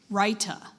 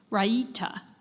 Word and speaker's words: raita: near peterward right uh are there any alternate pronunciations I do have one Ryuta all right the are